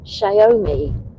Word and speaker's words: Xiaomi: Dave Bell said, it's pronounced Xiaomi.